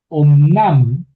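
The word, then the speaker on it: אָמְנָם: Entonces, estar utilizado adverbialmente eh eh omnam omnam. ¿Por qué om y no am? Porque es una sílab cerrada, termina en en consonante y no está acentuada.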